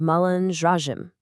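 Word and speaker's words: malandragem: And the lifestyle or kind of the abstract concept of this behavior, well that's Malandraim, pronounced Mullandraim. They have such a fun energetic ring to them.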